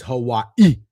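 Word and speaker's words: Hawaiʻi: By the way, that I said it like that because I found out recently that is how you say Hawaii. It's Hawaii. I've heard that before. It's apostrophe I.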